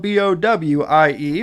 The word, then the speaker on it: Bowie: whatever this is spelled b-o-w-i-e which I guess you it looks like David Bowie but it's not it's Bowie Bowie Maryland so thankfully 13 year